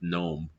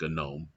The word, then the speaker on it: GNOME: GNU Object Model Environment, but I'm pretty sure that's pronounced GNOME, not GNOME.